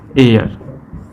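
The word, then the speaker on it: heir: लेकिन जब हम इसका प्रोनाउंसिएशन करते हैं, जब साउंड हमारा आता है तो साउंड हमारा आ जाता है आवर और यहाँ पर क्या हो जाता है, एयर, ठीक है।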